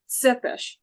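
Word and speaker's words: Țepeș: everybody, because no one knows how to pronounce these names, it's actually Tsepesh, like Ah, pizza.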